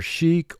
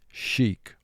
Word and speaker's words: sheikh: the word sheik now this word can be pronounced either chic or shake and if you were